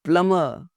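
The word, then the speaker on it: plumber: अब प्लम्बर बुला लो जी, प्लम्बर बुला लो जी, नो, इट्स प्लम्बर।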